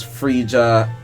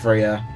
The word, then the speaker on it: Freya: play this game i also like mispronounced your name as frigga like for Freya to Frieda because like the J the J just messed me up it's really Freya and I think her